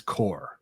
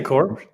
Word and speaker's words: corps: what it was because to my knowledge cor corpse c r PS like receiving that's core it's it's receiving core but that's just spelled like corpse right I believe so